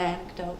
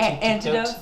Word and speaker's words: anecdote: It's just like an anecdote, I guess. Anecdotes are good. Then it's Anec- Phil's turn, so it's a, Antidotes.